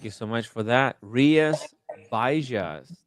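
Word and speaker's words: Rías Baixas: Rias Baixas. That's how you pronounce the area.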